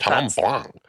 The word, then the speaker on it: Chenin Blanc: Chenin Blanc.